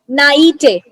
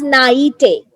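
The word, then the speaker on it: naïveté: So the first word is naite. Now the spelling is Naivete, or this is actually a. So it's pronounced as naite.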